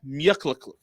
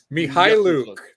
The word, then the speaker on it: Mykhailiuk: But that's not even how he pronounces the name. That's how like the Detroit broadcasters. Sviatoslav Mykhailiuk. Yeah, so that's how the Detroit broadcasters pronounce his name, but he pronounces it like with a harder K, like regardless.